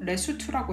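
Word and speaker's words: Lesotho: 바로 수트족의 나라인의 이제 한국어 표결을 레소토라고 하죠 하지만 실제 발음은 그리고 여기 남아공에서도 레스트라고 해요 그래서 아예 이렇게 별개의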